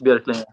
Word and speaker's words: Björklinge: And first of all, your hometown, how do you pronounce that? Well, I'll say Björklinge. Like, you can probably say whatever you want. It's probably pretty hard to pronounce, but yeah. Björklinge? It's Björklinge. Yeah.